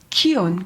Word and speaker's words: KION: 키온. KION. 그 단체 이름이 뭐냐면 키온이에요. Now, what is KION? 여러분 키온이 뭔지 아세요? Korea, Israel, one. 예, 한국과 이스라엘이 하나라는 뜻입니다. And KION also rhymes with Zion.